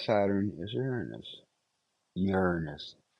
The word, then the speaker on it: Uranus: time in here but P Saturn is Uranus Uranus pronounce it that way please and here's a shot